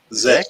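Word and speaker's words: sechs: Zex. X. German for 6. Zex. Yeah, I always pronounce it as a Z.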